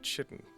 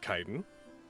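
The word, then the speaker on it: chitin: like armor it is I've always pronounced that chitten like chitus yeah I said that too for a long time is it kiten yeah can we can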